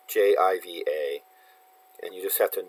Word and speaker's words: Jiva: Sometimes it's JIVA, and you just have to know that it's pronounced Jiva. Not to be confused with Shiva.